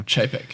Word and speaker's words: Chapek: Bob Chapek? Am I pronouncing that right? Yeah. Chapek, yeah.